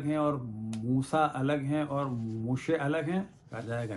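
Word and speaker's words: משה: اب اسی طرح حضرت موسیٰ کا نام عربی میں ہے موسیٰ, لیکن جو اصل ورڈ ہے ہبرو میں وہ ہے موشے, موشے.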